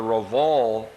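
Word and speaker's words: Rievaulx: of James Harriet uh I call it the Ral Abbey ruins it's spelled r i e v a u l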